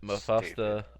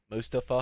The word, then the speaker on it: Mustafa: Mufasta Ali. Uh, What? is that how you say it? What'd you Mufasta. say? Mufasta. Must- Mustafa. no, How you Mustafa. Mustafa. Ali did a short promo